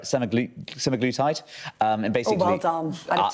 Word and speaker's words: semaglutide: And the key point they're making is that, am I going to pronounce this right? Semaglutide.